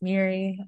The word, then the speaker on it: Moira: see my name spelled it's spelled Moira like Moira but it's pronounced Miri um I'm a visual